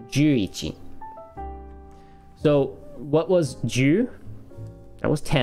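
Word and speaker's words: 十一: It is not ichi ichi. Okay, what is it? Stop doing that, Balin. There you go. It is juichi.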